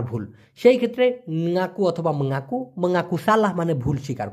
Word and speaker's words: mengaku: দেখুন মূলত শব্দটা হচ্ছে মঙ্গাকু, MENGAKU। উচ্চারণটা হওয়ার কথা ছিল ম উমগায় আকার মঙ্গা, তারপরে কু।